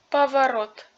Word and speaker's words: поворот: Si le non accentué précède la voyale accentuée, il se prononce à orchestre amelette. Essayez de lire le mot suivant. Поворот поворот Cela conclut notre troisème leçon.